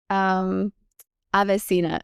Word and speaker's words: AveSeena: So, what inspired you to create AveSeena?